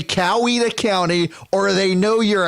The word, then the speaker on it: Coweta: chi no no no it is it is pronounced cow EDA say cow either County or they know you're a Yankee okay